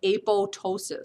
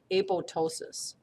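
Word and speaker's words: apoptosis: way but it's able the second P is silent a PO ptosis so then that's the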